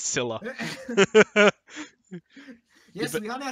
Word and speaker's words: Scylla: owner of Scylla, just tell us how to pronounce it, please. Just write it in the chat for us. It's Scylla. It's Scylla? It's Scylla.